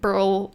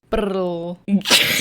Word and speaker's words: brrl: Burl. Burl. I think it's probably better if you can roll your R's. Burl.